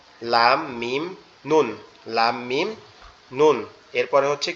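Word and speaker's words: ن: এটার উচ্চারণটা কেমন হবে, লামের মতো, জিহ্বার আগা উপরের তালুর সাথে লাগবে, এই যে লামের মতো, এই যে লামের মতো উচ্চারণ হবে, জিহ্বার আগা উপরের তালুর সাথে লাগবে, লেগে উচ্চারিত হবে নুন, নুন, নুন, নুন, এরকম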